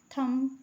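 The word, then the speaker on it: thumb: थंब। थंब मतलब होता है अंगूठा। ठीक है? यहां पे देखिए बी साइलेंट है। बी पढ़ा नहीं जाता।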